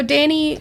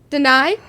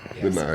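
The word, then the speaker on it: Danai: Danny, I'm going to mispronounce her name. So Danny Guerrera, I believe is how you pronounce it. Deny? Deny, yeah.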